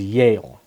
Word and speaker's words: Yehle: For example, my mother's maiden name is Yale, but it's spelled Yehle.